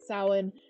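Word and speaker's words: Samhain: what I use um but Sawan is probably the most Celtic wall of these names and no one can pronounce it right the first time uh and um ends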